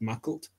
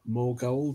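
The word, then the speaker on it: Maughold: Well, can I also just point out that Mackalt is pronounced Mackalt and not Morgold or anything else like that?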